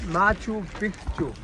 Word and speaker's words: Machu Picchu: The name is Machu Picchu with a double C.